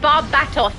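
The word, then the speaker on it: Barbatos: David, he said Barb Batos. Correct pronunciation.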